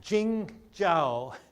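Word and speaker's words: 景教: here this morning uh so Jing jaao is the pronunciation in Chinese and this was the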